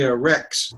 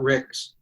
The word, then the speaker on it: Rex: Well, yeah, it's actually Rex, R-E-X, Rex Denning, not Rix.